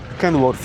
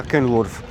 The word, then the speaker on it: Kenworth: Jest jeden Kenworth się tu czyta. Się wymawia Kenworth.